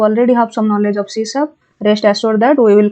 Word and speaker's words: C#: an programming language and it is pronounced as cab and it is developed